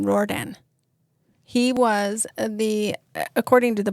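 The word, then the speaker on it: Riordan: Rordan.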